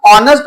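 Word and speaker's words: honest: इसी तरह से आयन ऑनेस्ट पर्सन, यहां पर भी देखिए एच से शुरू हुआ है, फिर भी क्योंकि प्रोनाउंसिएशन ऑनेस्ट है इसलिए हम लोगों ने आयन यूज करा है।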